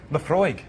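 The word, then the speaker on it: Laphroaig: Now, how do you really pronounce it? Lafroig.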